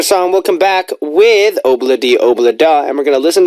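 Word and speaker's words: Ob-La-Di, Ob-La-Da: That's how you say it, by the way. Obladi Oblada. Obladi. It's hard. It's hard at first.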